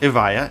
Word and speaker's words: Evija: growing Automotive Group it's significance cannot be overstated pronounced avaya it means the first in existence or the